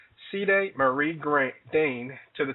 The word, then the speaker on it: Celi: the Bassa tribe so it is not a very common name but it is a Bassa name and the correct pronunciation is ceday um although I get called cely all the time I